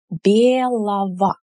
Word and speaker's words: белого: So «белый» turns into «белого», «ого», but we pronounce it as «ово», yeah? «Белого». Right, emphasis is here.